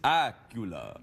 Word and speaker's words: Accola: you look very fresh sounds a bit like Dracula it does that's how I try to pronounce it on the phone when people Miss really yeah you say hello it's Miss Acula yes that's the exact